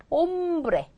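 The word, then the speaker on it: hombre: 보세요 아까 뭐라 그랬냐면 얘는 무궁이다 발음하지 않는다 그렇죠 옴브레 그렇겠죠 엄브레 엄브레 남자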